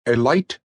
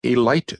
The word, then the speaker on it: Elite: Chug Scarrett was, and is, the proprietor and sole owner of the Elite Garage, and he pronounced it with a long I.